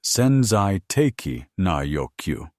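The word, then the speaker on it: 潜在的な欲求: The Japanese term senzai teki na yokyu, pronounced senzai teki na yokyu, roughly translates to latent needs or potential demands.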